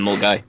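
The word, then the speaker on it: Milngavie: and Mulgai, Echo Feckin' which is spelled Mil.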